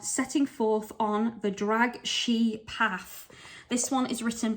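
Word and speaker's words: Sidhe: she path and you're probably thinking isn't that Sydney um which is a fairy word now they apparently say it should be pronounced she so that is how I'm pronouncing it and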